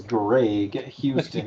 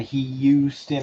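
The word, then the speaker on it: Graig Hyewstin: My name is Greg Houston. It's spelled just like it sounds. G R A I G H Y E W S T I N. Houston.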